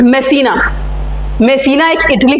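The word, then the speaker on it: Messina: Greece के बाद हम कहां जाएंगे यहां पे मेसना मेसना एक इटली का इंपोर्टेंट पोर्ट है ठीक है अगर स्पेलिंग आपको नहीं दिख रही तो दैट इज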